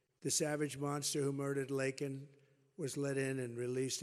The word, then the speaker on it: Laken: months of prodding him Biden couldn't pronounce her name he said he said Lincoln Lincoln Riley and Lincoln Riley was the football coach the coach and uh